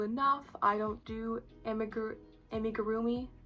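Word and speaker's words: amigurumi: I don't do amig amigarroomi. Amigarroomi. I think that's how you say it. I've been saying amigroomi, but I don't think that's right.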